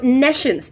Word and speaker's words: nescience: Nescience. Hello, Azzy. So nescience, Nescience. So it's the word science with N-E at the very beginning.